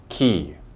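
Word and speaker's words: quay: what it sounds like it's probably not what you think it's key once again you guessed it this is a French word so we have to follow their rules however don't confuse this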